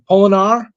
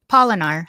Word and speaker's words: Poinar: do you say it poinar poinar like pollinating oh okay that's oh